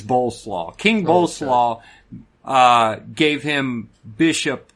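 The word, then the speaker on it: Bolesław: It's spelled just like coleslaw, but it's Boleslaw.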